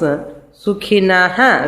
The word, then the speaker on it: सुखिनः: When the shakara comes, sukhinaha, visarga you have to pronounce fully.